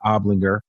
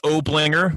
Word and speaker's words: Oblinger: time last year and his name is obligor and did I pronounce that right it's Oblinger but nobody's scoring this I don't think so